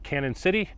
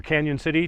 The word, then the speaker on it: Cañon City: take that down to canon city or canyon city depending on how you pronounce it we're going to take